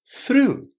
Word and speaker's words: through: It's quite hard to pronounce correctly. But listen through. Through. Is it really so difficult to say? If you just close your eyes, forget completely about the spelling. Through.